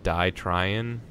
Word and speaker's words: DIY Tryin: It's spelled DIY Tryin, but it's pronounced Die Tryin, and it's all about doing things yourself.